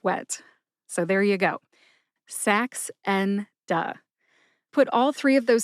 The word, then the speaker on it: Saxenda: They are sax, like a saxophone, the musical instrument, N, like the letter N in the alphabet, and duh, which is an interjection we use here in